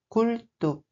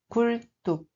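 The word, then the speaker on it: 굴뚝: Bien entendu, pour certains mots, il faut tenir compte des règles de prononciation. Si vous êtes prêt, c'est parti. Le premier mot est culto. Culto.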